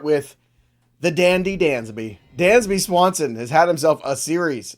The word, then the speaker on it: Swanson: Dansby Swanson has had himself a series against the New York Mets.